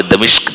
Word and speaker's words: دمشق: دمشق مشہور شہر ہے، جس کو اردو والے دمشق کہتے ہیں، اس کا صحیح تلفظ دمشق ہے۔ دمشق میں ایک بہت